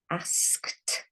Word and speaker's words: asked: Asked, also a tricky word because it's got ed ending, but it sounds like a T. Asked.